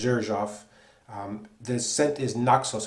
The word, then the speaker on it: Xerjoff: a perfume by Zuroff which is spelled XE r jo FF which makes it essentially impossible to figure out how to pronounce it I believe it is pronounced as irshaf this scent is NOK